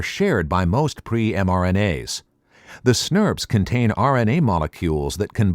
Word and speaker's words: snRNP: small nuclear ribonucleoprotein particles or snrnps pronounced snurps for short as the name suggests